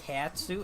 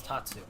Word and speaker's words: Tatsu: on most characters yes why did I pronounce the tattoo it's Tatsu on most characters it's safe